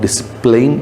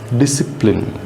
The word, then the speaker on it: discipline: most of the people most of the children will call this word discipline so it's not displaying this is the exact word should pronounce as discipline okay they see they see